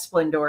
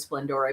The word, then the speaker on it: Splendore: Because she does have an accent on the E, and she said it is Splendore, but a lot of people call it Splendor.